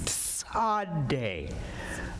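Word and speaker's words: Tsade: and it looks like that okay and it's pronounced t s a d e sad day okay so if you slow it down you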